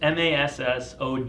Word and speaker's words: Massoglia: you know but yeah the G silent so it's mas s OG Li a but the